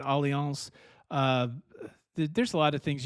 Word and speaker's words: Allianz: It's spelled like alliance with a Z, but Allianz.